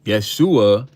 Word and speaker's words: Yeshua: Yeshua is what they called Jesus when he was on earth. That's how they pronounced his name.